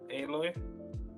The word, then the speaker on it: Aloy: How do you pronounce her name? Aloy.